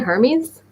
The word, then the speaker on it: Hermes: Is it Hermes?